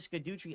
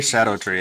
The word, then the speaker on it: Shadow Tree: If you're not using the Skidoo tree upgrade, you are ignoring the new mechanics of the DLC. It's Shadow Tree. Just say Shadow Tree. It's how it's pronounced.